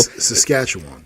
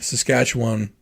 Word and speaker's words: Saskatchewan: Um, by the way, that is the proper way to say Saskatchewan, not Saskatchewan. You know, say all the letters, you kind of roll Saskatchewan.